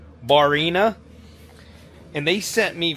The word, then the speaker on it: Barrina: I believe the name is pronounced Barrina.